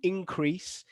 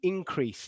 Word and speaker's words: increase: here it's a noun listen to how i pronounce it there is an increase in temperature so can you tell me which syllable did i stress there was it the first or second syllable there is an increase in temperature every year there is an increase